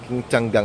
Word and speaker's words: Qingtiangang: King ti changgang ang pronunciation.